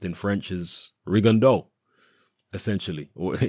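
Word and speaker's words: Rigondeaux: Regan D out well it's a French name and as far as I'm aware the way it's pronounced in French is Regan doe essentially okay it's certainly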